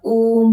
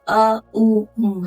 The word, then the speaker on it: ओम: ओम का उच्चारण ही बहुत लोग गलत करते हैं। ये ओम नहीं है, ये अ उ उ है।